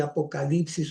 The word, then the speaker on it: apocalipsis: ¿Por qué digo apocalipsis? Porque a veces esta letra, hay cierta escuela que lo pronuncia como I y hay otros que lo pronuncian como U. Vamos a dejarlo como U, ¿ya?